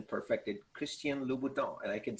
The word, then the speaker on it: Christian Louboutin: and now i got the i got the pronunciation perfected christian louboutin and i can say it like a french